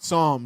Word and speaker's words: Psalm: new son Palms West Psalm Psalms were songs that's how you pronounce he he doesn't read